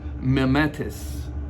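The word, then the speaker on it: μιμηταί: a word there um and that word is pronounced mimetis so mementos frequently depicts an actor that's playing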